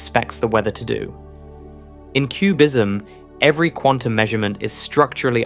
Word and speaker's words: QBism: QBism, pronounced QBism, stands for quantum Bayesianism.